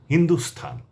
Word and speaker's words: হিন্দুস্থান: একটি হচ্ছে ভারতের অন্যতম প্রদেশ রাজস্থান আরেকটি হচ্ছে ভারতেরই আরেক নাম সেটি হচ্ছে হিন্দুস্থান। এ দুটি জায়গার নামে কেবল স্থান হবে।